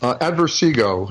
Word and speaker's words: Adversego: How do you pronounce his last name? Adversego.